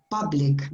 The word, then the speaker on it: public: Public. Be careful with that sound. That, I mean, normally letter U, not normally, sometimes letter U is pronounced like you, but some other times it's pronounced like in different ways, like urban, Ignacio. The same sound as girl, urban, and public, Ignacia, is like cup of coffee, public.